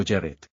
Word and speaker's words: Yareth: Inglés: Yareth (pronunciado Yáret o Yaréth).